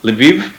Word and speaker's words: Lviv: They're in Ukrainian, is it Lviv?